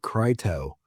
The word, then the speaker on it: Crito: So when we have a vowel consonant vowel combination, the I is going to turn into a long vowel. So it's actually Crito, not Crito.